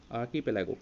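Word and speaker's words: archipelago: आर्किपेलागो, इसको कैसे बोलना है, देखो आर को साइलेंट रखा है, आर्किपेलागो मतलब क्या है इसका हिंदी में, द्वीप समूह।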